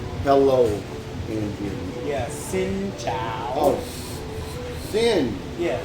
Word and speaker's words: xin chào: Yeah, xin chào. Oh, sin. Yeah, it's sin not zing. chow. No, I've been saying zing chow. It's sing. Everybody, like sing.